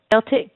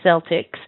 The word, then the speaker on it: Celtic: Celtic Celtic actually um they both work they if you look in the dictionary you can see both of them now there's a a team called the Celtics and that definitely has an S sound but if you're talking about the ancient people usually Celtic so heard this before